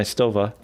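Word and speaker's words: Stowa: slim sleek watches in your collection there's my stova yeah i said it right now look at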